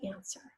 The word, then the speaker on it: answer: to the question say answer now the first syllable is easy and and then this second syllable I hear the S I hear the herb but this W is silent and the earth if